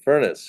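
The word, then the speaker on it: Furness: buildings including a number of buildings by Frank furnace who was one of Philadelphia's own and that is in fact how he pronounced his name because I was once corrected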